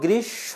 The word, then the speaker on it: গ্রীষ্ম: যে গ্রীশব বর্ষা শরত অনেকে গ্রীষ্ম বলে গ্রীষ্ম হয় না কারণ যদি প ফলা আর ম ফলা শব্দের শুরুতে থাকে বানানে আর শেষে থাকে তার উচ্চারণ হয় না তাহলে দেখো গৃস হবে গৃসব বর্ষা শরত হেমন্ত